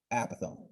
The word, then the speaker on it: apothem: apothem it's kind of it's spelled like apothem but again it said apothem now what is the